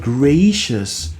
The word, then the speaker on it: gracious: The word gracious is a diphthong, especially the first half of it. Gracious, 2 syllables, right? So I'm talking about the gray part.